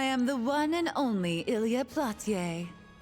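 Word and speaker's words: Ilya Platiere: I am the one and only Ilia Platier. That is definitely not how I've been pronouncing that this whole game.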